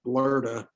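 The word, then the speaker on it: Bloede: Victor Bloody, whose name in German is pronounced Blurda, was quite an industrious individual.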